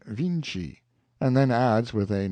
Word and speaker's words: Vinci: own tongue he says they spell the name of their great painter viny but pronounce it Vinci and then adds with